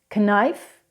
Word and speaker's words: knife: Whenever you have K and N together, the K is not pronounced, like in the words ni or no. It's not kni, it's not kno, it's ni and no. Knife, knife.